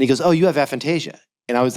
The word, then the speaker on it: aphantasia: But Fantasia is spelled like the Disney movie, but actually, no, that would be with an F. It's Aphantasia, Aphantasia.